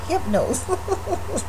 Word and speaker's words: Hypnose: And yes, it's spelled N-O-S-E. Hypnose.